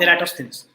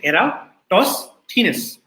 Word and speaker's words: Eratosthenes: of eratos venus right the sieve of eratosthenes and this is how you pronounce the name you say era toss thinness okay eratosthenes so this thief algorithm